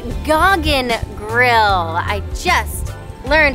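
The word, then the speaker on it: Gauguin Grill: so i'm gonna give a little correction it's goggin grill i just learned how to pronounce it gog and grill is turtle and only beachfront restaurant featuring fresh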